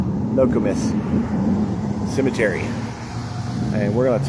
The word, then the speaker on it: Nokomis: So, the Nokomis Cemetery, pronounced No-co-mis, Nokomis Cemetery.